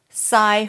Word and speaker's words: Psi: your first clue sai okay sai that was easy even if you go oh psy up no no no no no that's not